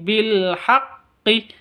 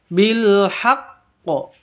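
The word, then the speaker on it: بِالْحَقِّ: samar disertai deng dengung terus bilhaq ada alif lam tandanya sukun berarti izhar qamariah yang terakhir ini bilhaqqi jadi Qalqalah Kubro karena berada di akhir cara bacanya kalau ada tasdidnya huruf qalqalahnya kalau ada tasdidnya berarti ditahan dua harakat terus dilepas beserta ee beserta qqolahnya bilhaqqo seperti itu Oke kita ulang sekali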